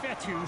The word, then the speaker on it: Fetu: 26 yard line so coach fethu spelled fetu for the longest time i was pronouncing it coach feta like feta cheese so let's just say